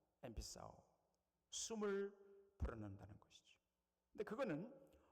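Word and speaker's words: ἐμφυσάω: 여기 오늘 본문에 엠피사오 그리스도로 그렇게 발음합니다. 엠피사오.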